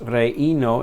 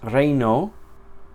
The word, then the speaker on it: reino: O en español, la palabra reino, ei, no es reino, es reino.